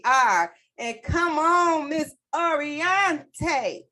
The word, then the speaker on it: Oriente: And come on, Miss Oriente. Say it like that, y'all, because that's how I say it.